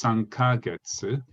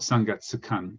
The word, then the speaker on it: 3ヶ月: But it's actually it's pronounced 3ヶ月. It's spelled 3ヶ月 confusingly. So you want to make the duration, otherwise it sounded a bit weird.